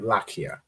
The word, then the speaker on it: Lakia: Lakaya. Lakia. Lakia. Excellent. Right, Lakia. So the La and the Ka are joined, and then the Ya you pronounce. So Lakia.